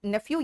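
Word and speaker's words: nephew: बेटा नेफ्यू या नेव्यू दोनों भी प्रोनाउंसिएशन सही है।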